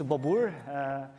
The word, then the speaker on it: Bobur: let me introduce myself first my name is babur I'm a developer advocate for Apache API 6. sometimes so difficult to pronounce my name people say it's from different